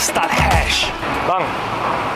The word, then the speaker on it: Stadthuys: It is formerly known as Not a familiar word, let's google this up It's pronounced as 'Sta-has' Bro, can I have a go?